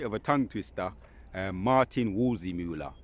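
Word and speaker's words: Waldseemüller: Martin Wolzimula, right, the cartographer.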